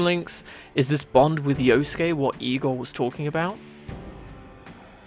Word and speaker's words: Yosuke: between you and yosuke because i know how to pronounce his name and it's not pronounced yusuke it's yosuke isn't seen as a